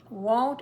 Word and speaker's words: won't: pronunciation tip as well won't and want are not pronounce the same won't is more of a long o I won't do it and you need to say oh so that we don't think